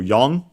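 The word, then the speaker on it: よん: of the number seven just like yon is the strictly Japanese pronunc pronunciation of the number four.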